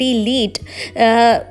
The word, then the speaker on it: lead: काम कर रहा है, लेकिन जब यही word LEAD लीड एज a noun काम करता है तो उसका अर्थ होता है सीसा और इससे प्रोनाउंसिएशन किया जाता है लेड से, लेड इसको बोला जाता है।